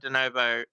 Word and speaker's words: de novo: It's de novo.